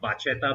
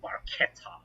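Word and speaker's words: Barchetta: be the ferrari 550 barcata yeah yeah yeah i saw your comments it's i used to think it was pronounced bachelor but the italians pronounce ch as k so it's barquette remind you of bruschetta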